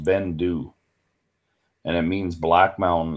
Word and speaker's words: Beinn Dubh: that's a bit pricey but it's it's just pronounced Bendu and it means Black Mountain is a thick